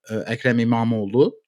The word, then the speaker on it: Ekrem İmamoğlu: There is a mayor of Istanbul, as you mentioned at the top there, Ekrem İmamoğlu. You pronounced it very well, if you ask me.